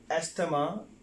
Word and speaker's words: asthma: Well, the next goes with A-S-T-H-M-A. The word is not asthma. The right pronunciation of that word is asthma, right? The right pronunciation of this word is asthma. It's pronounced that word again, asthma, right?